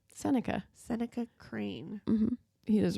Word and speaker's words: Seneca: Seneca.